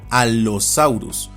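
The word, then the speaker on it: Allosaurus: Las grafías con consonantes dobles como doble L y doble C se pronuncian también de forma doble, una vez en una sílaba y otra en la siguiente y en general toda doble consonante. Así este nombre se pronuncia alosaurus, pero se escribiría alosaurus,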